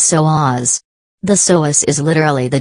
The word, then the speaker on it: psoas: what is your Sohus the correct pronunciation of the Sohus is so AHS the Sohus is literally